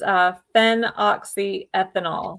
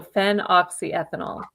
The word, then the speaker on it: phenoxyethanol: And I'll spell it too. So it's phenoxyethanol.